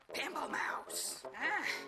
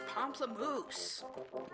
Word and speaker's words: Pamplemousse: Pamplemousse. It's Pamplemousse. I said it wrong.